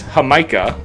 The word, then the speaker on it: jamaica: Uh, hibiscus is also known as hamika in Mexico, which is spelled Jamaica.